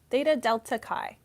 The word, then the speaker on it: Theta Delta Chi: so the next one Theta Delta Chi Kai how do you pronounce that it's like a fraternity Theta Delta Kai cordially invites you to